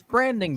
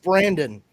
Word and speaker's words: Brandon: It's branding, dude. Branding. No, it's pronounced Brandon.